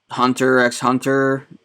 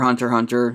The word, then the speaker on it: Hunter x Hunter: a good one Hunter x Hunter or hunter hunter you can pronounce it either way that's a real good